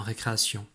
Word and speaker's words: récréation: Alors, intéressons-nous au son se dans récréation. Alors, on va directement aller voir les lettres en rouge. Ici, si on de récréation s'écrit TI.